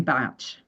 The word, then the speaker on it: Bach: But he this gentleman pronounced his name Batch for reasons that I don't understand. But he was Welsh and he was known to to pronounce it batch.